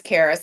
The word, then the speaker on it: Karis: My first name is Karis, like I said, it's spelled k a r i s.